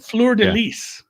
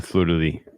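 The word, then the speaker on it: fleur-de-lis: Yeah, it is the fleur de lis. Yeah, the fleur de lis. Even in French, you don't pronounce the S. I say the S because I'm from Minnesota.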